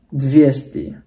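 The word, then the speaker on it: двести: 200 itu bahasa Rusianya dvesti. Ya 300 trista. Penekannya di sini ya.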